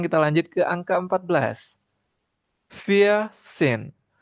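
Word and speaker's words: vierzehn: Var sin V i R V I E R Z E H N itu tulisannya.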